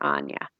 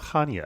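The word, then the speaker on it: Chania: and I'd stay near Ana which is spelled like Chia but it's pronounced with no C so it's c h ni I now we heard that called Hana yes spelled it it's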